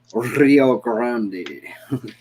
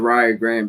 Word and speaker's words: Rio Grande: too but like it's supposed to actually be uh pronounced uh rio grande you know like for real spanish like uh mexican or